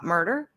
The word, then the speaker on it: Myrter: And by the way you all murder is spelled not murder like murder she wrote but it's m y r t er, right?